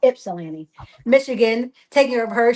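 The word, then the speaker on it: Ypsilanti: And you guys know I was like for the week past two weeks I've been in um Yipsilani. Um well my daughter said I'm saying it wrong. Ipsilani Michigan taking care of her.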